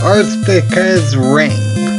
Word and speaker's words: Arkista's Ring: hello everybody and welcome to earth pickers ring hey boys that's how you pronounce it anyway let's start a new game